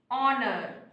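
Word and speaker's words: honour: অনার, এই এইচ আছে কিন্তু উচ্চারণটা পাচ্ছি আমরা ও এর, এইচ এর উচ্চারণ আমরা পাচ্ছি না, তাই ও এর উচ্চারণটা পাচ্ছি, তাই সেখানে অ্যান হবে।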